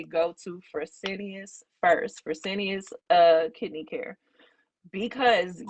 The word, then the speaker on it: Fresenius: I can't pronounce what the words you just said. So I'll be honest. F it's Fresenius. Fresenius.